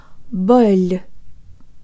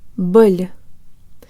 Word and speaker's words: боль: The O in this syllable is unstressed, so it sounds like a schwa, and the L is soft, so it almost sounds like it has a Y sound built in.